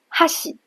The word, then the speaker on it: 箸: 比如哈喜，筷子，你会发现它的